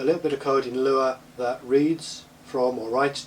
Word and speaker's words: Lua: functions uh in a language called lure that's spelled Lua and lure in fsuipc